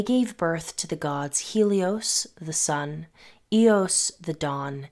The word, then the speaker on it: Helios: our attention on Helios Helios or elos as it's pronounced in Greek is often depicted with